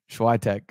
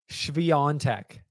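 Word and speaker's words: Świątek: Uh-oh. Schwitek. Let him have it, people in the comments. Let him have it. It's been like 7 weeks. Swiatek. There's no N in your last name, so...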